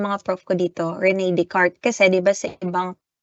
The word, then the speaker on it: Descartes: Kay René Descartes, okay? Kay René Descartes. Kaya nga ano siya, Cartesian, okay? Anong spelling ng pangalan ni paring René? René Descartes. Pero yung iba ang basa nila, Descartes.